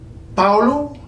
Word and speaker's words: Paulo: to be Paul knew well in Portuguese the Oh at the end of a word and that's quite common always floats up when it's sitting there in that unstressed position just floats up from all - ooh so some power ooh now the other one